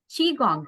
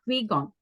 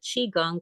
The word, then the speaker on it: Qigong: as Qigong right not Qui-Gon yes yes so yes they're called uh Qigong but they can be pronounced key it depends on the language in Chinese it's Chi in Japanese it's key so that is all